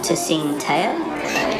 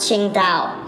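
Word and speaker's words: Tsingtao: you like a uh to sing taylor dude it's pronounced qingtao let's get you practicing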